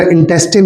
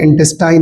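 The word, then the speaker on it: intestine: इसी तरह इंटेस्टिन होता है, इंटेस्टाइन नहीं होता। सही प्रोनाउंसिएशन है इंटेस्टिन।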